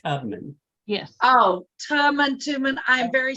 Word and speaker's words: Tubman: Was the first one, was it Harriet Tubman or Tuberman? Tubman. Okay. we got Tubman. Tubman. actually pronounced Tubman.